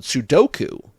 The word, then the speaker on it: sudoku: Queenie says she has plenty of time in prison to do a lot of sudok sudo s u du ko. The number puzzle game is called sudoku.